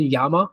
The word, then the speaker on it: Jama: the artist would be Jama Jurabayev. What I hear, but I heard somebody call him Yama. I'm not sure. I guess pronounce there's a different way of pronounce. To me, it's Jama Jurabayev for sure is one of my biggest inspiration.